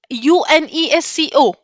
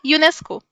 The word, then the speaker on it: UNESCO: लिया, एब्रिविएशन बना लिया, बट एज अ UNESCO ऐसे नहीं प्रोनाउंस करते। कैसे प्रोनाउंस करते हैं, यूनेस्को, यूनिसेफ, इनको हम एक्रोनिम बोलते हैं, राइट, एक्रोनिम बोलते हैं।